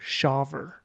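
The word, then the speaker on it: Shawver: solver sure yeah I'm gonna rely on your pronunciation Michael it's s-a-s-h-a-w-v-e-r shover yeah Smith shaver Smith 20 year old high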